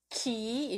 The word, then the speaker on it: ki: And then if pronounced as in a Ki, then that's from reflecting the Japanese cultural aspect.